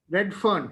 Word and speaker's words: Redfern: Redfern, Fern, Redfern.